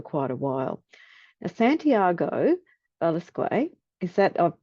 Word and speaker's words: Velasquez: Now, Santiago Velasquez, is that, I've pronounced it correctly, have I, Santi? Velasquez, but don't worry. Velasquez, yep, sorry, is based here in Brisbane.